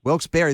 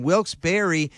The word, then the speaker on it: Wilkes-Barre: the scranton wilkes-ba wilkes-barre barry how do you pronounce that i don't know why i don't know that well wilkes-barre you got it wilkes-barre the scranton wilkes-barre yankees a little tune-up for the weekend when